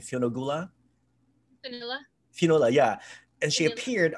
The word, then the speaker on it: Fionnuala: Oh, and then Fionn, how do you pronounce her name? Fionnuala.